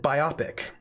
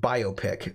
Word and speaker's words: biopic: Churchill film, BIOPIC, and I always pronounced it biopic, a biopic. But I recently learned that it should be pronounced biopic because je fais, because it's biographical picture, so a biopic, but I